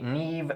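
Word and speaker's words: Niamh: That would be Neve, Siobhan, and Kiva.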